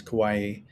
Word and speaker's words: Kauai: We came from Kauai, which is I never know if you call Kauai or Kauai, but the correct pronunciation in Hawaiian is Kauai, where we stayed for 8 days.